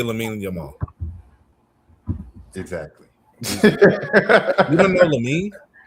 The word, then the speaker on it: Lamine Yamal: I would say Lamine Yamal.